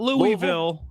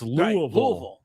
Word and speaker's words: Louisville: It's not Louisville. It's Louisville. Right. Louisville. It's one syllable.